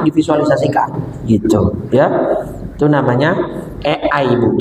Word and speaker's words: AI: Itu namanya Ei, Bu. Tulisannya A i. Ai. Bahasa Inggris dibacanya e I.